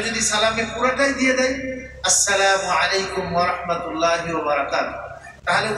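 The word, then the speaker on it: السلام عليكم: হামজাটাও clear, আর মু যেটা বলবো আমরা লাস্টে যে পেশটা মিমের উপরে, এটাও ক্লিয়ার করে উচ্চারণ করো। আসসালামু আলাইকুম বলেন না সবাই।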